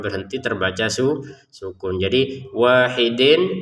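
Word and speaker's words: واحد: Jadi wahidin terbacanya wahid. qalqalahnya ataupun pantulannya jangan lupa wahid karena dia adalah bagian dari baju di toko ya harus dipantulkan kecuali kita menggabungkan ya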